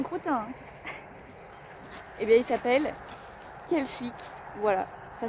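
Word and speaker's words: Quelchic: Et bien, il s'appelle Kelchic. Voilà, ça s'écrit Q U E L C H I C tout simplement.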